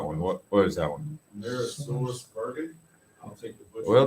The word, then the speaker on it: AmerisourceBergen: AmerisourceBergen.